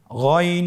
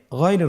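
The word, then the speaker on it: غ: ছাড়া বলুন আবার বলুন গন হরফটি মোটা অক্ষর উচ্চারণ করার সময় অবশ্যই মোটা করে বলতে হবে আইন এবং গন হরফটি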